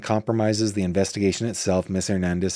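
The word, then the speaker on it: Hernández: I would venture to say Alma pronounces his name or her name Hernandez, which would be awesome because that's the way it's pronounced.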